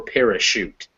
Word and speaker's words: parachute: sometimes is different so if you ever see a word that is a english word that was borrowed from french then it will be pronounced with a sh this is why it's